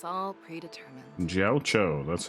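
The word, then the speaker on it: Jiaoqiu: Jiao Cho, that's how you pronounce his name.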